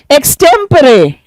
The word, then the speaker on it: extempore: एक्सटेम्परे, इसका प्रोनाउंसिएशन क्या है?